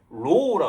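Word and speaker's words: rho: 상공한계는 다 이렇게 코릴레이션이니까 r로 쓰는데 원래 정확했을 때는 파퓰레이션 때는 로우라 그래.이 발음을 로우라고 하는데로 xy.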